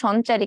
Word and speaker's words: সঞ্চারী: তাকেই বলা হয় মনোস্যাকারাইড আমার নামের উচ্চারণ হবে সঞ্চারী কেন রে বাবা আমি